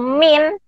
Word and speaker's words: mean: Kemudian yang perlu dipelajari lagi itu mean atau min, median, modus. Apa sih itu mean atau min? Tulisannya itu mean ya, bacanya min.